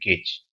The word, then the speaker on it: gauge: end up seeing it gauge okay but correct pronunciation is gauge only and these 3d uncertainty